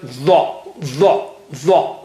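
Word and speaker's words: ظ: The. And you make your mouth a little bit round. The.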